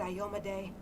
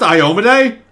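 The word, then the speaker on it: Iomedae: work but um oh light of the sword ioma day forgive me my sins wait is it pronounced iomede i am weak and undeserving i've been pronouncing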